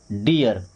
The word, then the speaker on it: dear: Then DEAR, डी से क्या बनता है, ड, ई ए है तो छोटी की मात्रा और आर से बन गया रा, तो क्या हो गया, डियर।